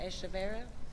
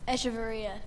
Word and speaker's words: Echeverria: Maya Echeverra, is she here? Did I get your name right this time? I did not do it. Echeverria. I mispronounced it every single time.